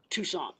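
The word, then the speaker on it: Toussaint: Tucson. Tucson? Tucson. Mm-hmm. Like Arizona? No, it's not spelled like that. It's spelled Toussant, like the Tucson Lavashire. Tucson. Yeah, Like a croissant, but Tucson.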